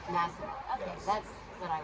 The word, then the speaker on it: Masilon: How do you pronounce your last name? Masilon. Masilon.